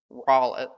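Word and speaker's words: Rollett: And just to show you that the rest of the problem is doable, um, want the rolllet or roll it, that's how you pronounce it.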